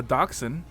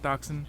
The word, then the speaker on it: dachshund: been three different ladders champion a table a dachshund that's how you pronounce dashing dachshund yep toxin dachshund okay um a monkey and the belt